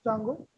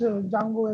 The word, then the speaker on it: Django: Now the interesting thing is how you can pronounce Django. So basically, we don't pronounce Django as Django. It is Django. So D is silent.